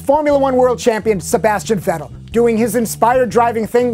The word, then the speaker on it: Vettel: meet Red Bull racer Vettel. By the way, it's pronounced in German as an F, not as a V.